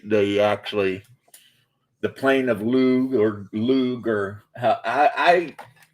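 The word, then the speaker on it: Lugh: So, they they actually the plane of lug or lug or I I automatically because of you know reading all the Irish myth, I automatically don't pronounce the G.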